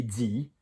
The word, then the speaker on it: dit: So if you were saying if you said I've said, j'ai dit, j'ai mis, and j'ai fini, all of those sound the same.